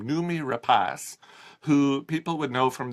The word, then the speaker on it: Noomi Rapace: unlocked stars Noomi Rapace I had to look up how to pronounce her name is a Swedish name Noomi Rapace who people would know